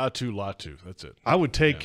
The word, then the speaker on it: Latu: Latu, is that how you say it, pronounce his name?